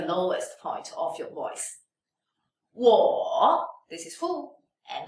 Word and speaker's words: 我: 我 If you really want to emphasize one character, third tone character, then you should pronounce it fully. 我 But if you put the third tone word into the sentence or into a phrase and you say it very fast, then you can just shorten it out.